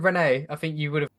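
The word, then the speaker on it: Rennes: Well, first of all, it's Ren for a start, because in France you don't pronounce the last What, letter.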